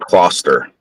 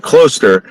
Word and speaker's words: Closter: So, where I live, there's a town called uh Closter, but it's really pronounced cluster, right? And and the thing is that for years and years and years, the reason why we pronounce it cluster is because like all